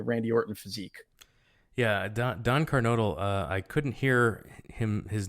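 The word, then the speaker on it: Kernodle: Watts, I should say, calling him Don Carnoodle, even though like the ring announcer would announce him as Don Carnodle, but just a lot of people could not get that pronunciation through.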